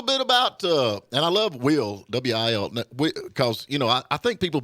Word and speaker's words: Wil: Will. Yeah, W-I-L. well, I couldn't afford the second L, so I just kept it with 1. Hey, I'm with you on that, and it's pronounced the same, So, yeah.